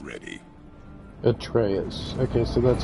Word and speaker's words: Atreus: Atreus. Okay, so that's how you pronounce his What name.